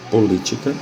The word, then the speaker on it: política: Política. A sílaba tônica é a antepenúltima, portanto, é a palavra proparoxítona. No caso das palavras paroxítonas,